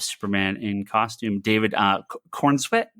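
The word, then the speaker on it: Corenswet: of um of Superman in costume David uh corn sweat corn sweat right that's how you pronounce his last name um uh yeah it's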